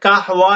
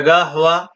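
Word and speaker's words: قهوة: বাংলাতে কাহওয়া লেওয়া কাহুয়া কিন্তু এটা গাহ বলবে গ দিয়া গাহ গাহ গাহ মজুদ গাহ ইংরেজি অর্থ কাফি কাফি কফি গা হওয়া গা হওয়া ইয়োদিয়া আরবিতে এর তালাফুজ অর্থাৎ এর যে উচ্চারণ করা হয় সেটা গা ঘর ঘর উচ্চারণ হবে গা হুয়া গা হওয়া উর্দু তরজমা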